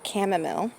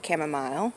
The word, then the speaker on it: chamomile: And then along here is the chamomile. or chamomile. I know people pronounce things differently, but so I'll throw both of those names out there.